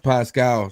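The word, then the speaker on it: Paschal: Hey, I'm not saying his last name right. What I said, Pascal. No. You're saying it right.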